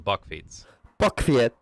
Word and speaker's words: bakfiets: In English, these are usually So not a bakfiets, a bakfot. Oh, how? How do you say that again? This is a type of bicycle known in the Netherlands as a bakfiets.